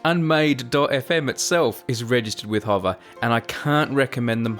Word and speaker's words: Hover: And I know my Australian pronunciation of hover might have you foxed, so that spelling is HOVER, like a hovercraft, .com, and then use